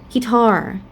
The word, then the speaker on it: guitar: And for the word guitar, the second syllable we have the tense vowel R, the long vowel there.